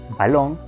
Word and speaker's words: balón: Esto lo podemos identificar cuando pronunciamos la palabra, ya que si decimos balón, entendemos que la segunda sílaba es la que lleva la mayor fuerza de voz.